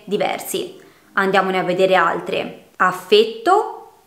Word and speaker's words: affetto: Affetto oppure affetto. Il primo viene dal verbo affettare, il secondo significa amore. Quindi la E nel primo caso è chiusa, nel secondo è aperta, determina due parole che hanno un significato completamente differente.